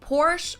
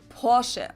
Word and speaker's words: Porsche: Americans pronounce it Porsche or Porsche. Porsche. In German, we say Porsche. So there's like this short E sound in the end.